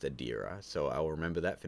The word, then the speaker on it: Adira: Adira Kessler just wanted to mention that his name is pronounced Adira, so I'll remember that for next time.